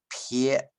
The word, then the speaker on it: 別: 念 wang，然后别离的别要念撇。